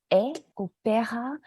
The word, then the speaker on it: opéra: With an accent, it is pronounced opéra, but the letter itself, so you know the differentiation, it is pronounced as E.